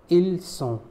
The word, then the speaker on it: ils sont: Ils is also pronounced il. As you know, the last consonant of a word is most of the time is silent. So il sont means they are for masculine plural.